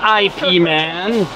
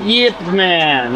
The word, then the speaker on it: Yip Man: wow wow and also this is the proof that yman spelled his name with a y all right not Ip Man but Yip Man all right floor ninth